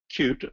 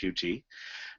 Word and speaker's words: Qt: a fairly uh recently popular one called uh cute sometimes pronounced QT and uh and it uh is one that